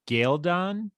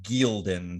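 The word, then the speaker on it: Ghealdan: It's the war in Galdon? Galdon, I believe, is the way they have pronounced that on the television show. I had always said Gildon, but I think it's Galdon. Galdon.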